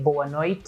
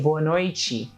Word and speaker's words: boa noite: be troublemakers for you that's why we don't say boa noite a we say born or a chi and when I say